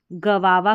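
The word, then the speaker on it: guava: जैसे ये वाली स्पेलिंग है, इसको हम गवावा करके पढ़ते हैं, ठीक है, इसको गवावा पढ़ते हैं, तो थोड़ी सी अलग है, ध्यान रखना।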